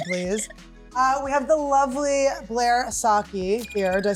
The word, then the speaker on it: Blair Socci: We have the lovely Blair Socci here.